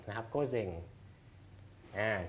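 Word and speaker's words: 午前: ออก เสียง ว่า เซง นะ ออก เสียง ว่า โก๊ะ เซง นะ ครับ โก๊ะ เซง อ่า ก็ จะ แปล ว่า ก่อน เที่ยง วัน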